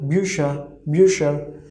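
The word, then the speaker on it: Bücher: So bu umlaut like bu, sh, and whenever er will come together and it will be at the end, then as we have talked, pronunciation of er at the end will be okay, so busher, busher means books.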